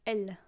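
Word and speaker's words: elle: is is uh L L is just l l l l which sounds like the pron pronoun l so uh she she in French would be L yes thank you strings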